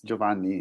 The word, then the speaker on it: Giovanni: pronunciation is correct but giovanni yeah it's giovanni it's italian hello i'm trying to